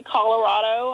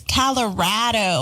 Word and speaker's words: Colorado: I mean it's it's Colorado I mean it's they say it's because Colorado is rad so it's Colorado I don't think I